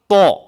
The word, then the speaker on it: ط: এ অক্ষরটার নাম হচ্ছে ত বলেন ত অক্ষটা দেখতে কিরকম?